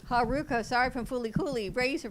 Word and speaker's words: Haruko: Rosenberg from Buffy the Vampire Slayer, Chaos Bleeds, Haruko Haruhara from Fooly Cooley, and you pronounce her name wrong. It's Haruko. Haruko, sorry, from Fooly Cooley, Razor from Aliens in